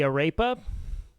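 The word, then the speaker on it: arepa: a I'm sorry um Aras are one of the few things I'm going to say you have to roll your r on you know what I mean the arapa no you got to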